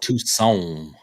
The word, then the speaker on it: Toussaint: I think it's Ebony Toussaint. But anyway, Ebony Toussaint tomorrow. Yes, not a croissant. No, I believe it's pronounced Toussaint.